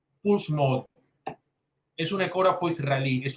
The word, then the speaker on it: Pulse: Se llama Puls. En español se escribe pulse mode. Puls mode es un ecógrafo israelí.